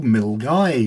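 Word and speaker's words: Milngavie: we went up to mil guy which isn't pronounced the way it looks it's the place where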